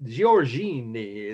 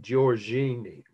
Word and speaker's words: Giorgione: name so she said or something like that giorgini is how you pronounce it i'll spell it slowly of course